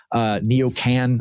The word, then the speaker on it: neocon: The word neocon is neocan.